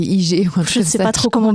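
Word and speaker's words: hygge: dit voilà en français on l' écrit h y g g pour les gens parceon dit pas HUG on dit IG je sais pas trop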